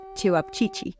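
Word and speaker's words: ćevapčići: Por ejemplo, uno de sus platos populares son los cevapcici, se pronuncian así, pero son el tipo de kebab pequeño como una salchicha de carne picada que también estaban en Bosnia.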